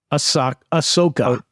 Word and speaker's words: Ahsoka: It's pronounced Osaka, Ahsoka.